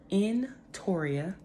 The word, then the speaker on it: Entoria: so let's get started my name is pronounced in Toria nicely all my life